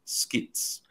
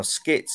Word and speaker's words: SCITTS: your current role and uh and what are skits okay so my my title is cine tutor